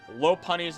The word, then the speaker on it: Lopunny: seen one person pronounce Lopunny's name correctly, and I'm not one of them. Lopunny is the proper way to say it, like a lop-eared rabbit.